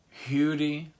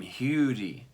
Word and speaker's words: Huddie: his real name is Hugh D better okay now it's spelled hoodie but they called him huger okay Hugh D Ledbetter